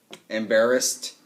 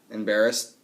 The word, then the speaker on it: embarrassed: If it ends in an unvoiced sound, we add the T sound. Stopped, embarrassed, embarrassed, okay?